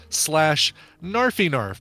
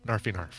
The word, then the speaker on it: KnarfieKnarf: My Instagram is /NarfyNarf, but that's spelled KNARFIEKNARF. So Narf, KNARF, NarfyNarf.